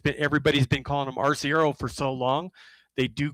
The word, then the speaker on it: Arciero: And he does go by Arciero, but I have talked to both Butch and Ryan, and it is Archiero, also.